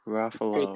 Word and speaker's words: Ruffalo: Mark Fake Ruffalo. fan. It rhymes with buffalo.